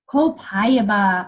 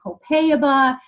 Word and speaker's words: copaiba: little tip for you copaiba I love some people say copaiba some people say copay about I don't care how you say it it's amazing ok I say copaiba it supports health of